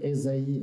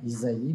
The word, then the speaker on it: Ésaïe: texte du prophète Ésaïe je dis Esaïe et non pas Isaïe puisque dans la tradition